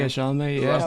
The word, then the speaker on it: Chalamet: Yeah, Chalamet.